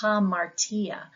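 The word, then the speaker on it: ἁμαρτία: truth next is hamartia you'll notice that rough breathing Mark so we're going to say hamartia this is our word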